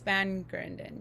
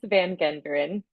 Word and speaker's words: van Genderen: name handle is Van Grunden. Yes, sorry if I pronounced your name incorrectly. Yes. Oh, it's okay. I know it's long and it's Dutch. It's van Genderen.